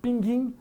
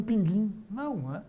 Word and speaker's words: pinguim: tem mais nada é por causa disso vai pronunciar pinguim Ah eu vi um pinguim pinguim continua mas a pronúncia a outra exemplo